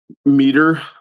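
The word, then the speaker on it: Mateer: Meter.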